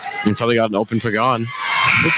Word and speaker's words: Pagan: Now, how do you pronounce her last name? Pagan.